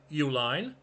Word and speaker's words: Uline: Elizabeth and Richard founded Uline. different spelling than their name. The company that was founded was spelled U L I N E. Same pronunciation, but it's a shipping supplies company.